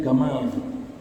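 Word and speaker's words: جمل: Orang Mesir bilangnya gamal. Orang Mesir kalau baca jim itu dibaca ga. Seperti Jamal Abdul Nasir, Jamal, jim, mereka bacanya gamal.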